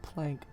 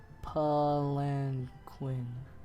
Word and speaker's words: palanquin: you pronounce that palankin it's not plank palanquin palanquin listen wait turn us up palanquin palanquin there you go the palanquin and came